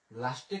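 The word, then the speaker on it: le chat: তো এখানে যেহেতু আমাদের এই আটা আছে, আ বলতে তে আছে, তের কিন্তু উচ্চারণ হইতেছে না, এই কারণে লো সা।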